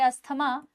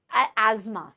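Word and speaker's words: asthma: इसे बोला जाता है, वैसे तो कई लोग इसे बोलेंगे अस्थमा, लेकिन एज़मा इसे बोलते हैं, एज़मा, बट हम नॉर्मली जो प्रोनाउंसिएशन करते हैं उसे बोला जाता है अस्थमा। हम नॉर्मली अस्थमा बोलते हैं, but correct pronunciation is एज़मा।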